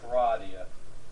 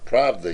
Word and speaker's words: Pravda: The Washington Bureau Chief of Paradia, is that pronounced right? Of what? Pravada? In a C-SPAN interview, said that the real government behind Russia is the old Soviet. Pravda, you mean?